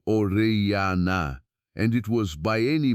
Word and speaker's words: Orellana: The expedition was led by a conquistador named Francisco de Orellana, pronounced Orellana, and it was by any measure a nightmare of hunger and desperation.